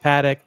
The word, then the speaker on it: Patek: CQ pronounces it paddock. I pronounce it PC. Kesler pronounces it a different way.